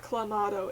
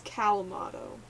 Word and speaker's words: Calmato: I'm sure Clamato, I'm saying it wrong. It's not Clamato, it's Calmato. But, like, it's basically the same.